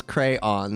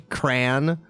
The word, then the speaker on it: crayon: 2 syllables, crayon, that one. Could also be cran.